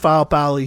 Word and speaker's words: Faupali: She is Tongan, and that's how she told me. She told me that's how you pronounce his last name. So I'm going with Faupali here, you know, but excuse me if I'm saying that wrong.